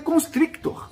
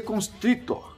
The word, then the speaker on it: Konstriktor: escritor É isso mesmo a gente lê constructor pode vir aqui ó Construtor tem um cara ali na frente né papai Mas você lê constritor então vai ficar some na hora da pronúncia Beleza então aprendi mais